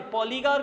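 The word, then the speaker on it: Poligar: यही नहीं, जो दक्षिण में एक पालीगार थे, पॉलीगार कौन होते थे, ये पॉलीगार लिखा है, actually one pronunciation will be पालीगार।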